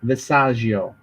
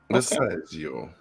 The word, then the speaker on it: Visaggio: Hold on, let me say it right. Magdalene Visaggio. Visaggio.